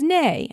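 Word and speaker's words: nei: The word for no in Icelandic is nay.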